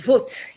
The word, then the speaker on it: Verwoerd: That's the pronunciation. Verwoerd.